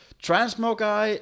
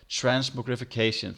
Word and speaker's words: transmogrification: I can never pronounce that word. Transmogi and void storage unit. Transmogrification, thank you.